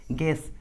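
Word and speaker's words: guess: है तो you silent होता है, यू का उच्चारण नहीं करते। For example गेस, गाइड।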